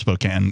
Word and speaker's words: Spokane: the town of spokane even though it's pronounced spokane if you're from there he was there and